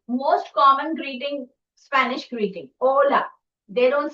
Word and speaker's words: hola: Hola. They don't say hola, they say hola. Now see in different languages they pronounce it in a different manner and in Spanish h is normally silent.